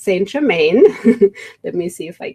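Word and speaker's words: Saint Germain: about is sorrow mom English of course it would be pronounced st. Germain let me see if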